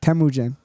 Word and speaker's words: Temujin: Temujin.